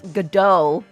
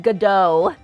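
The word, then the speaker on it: Godot: right oh sorry someone someone told me I should pronounce um his name as gdo I remember it I remember it Gau very very sassy very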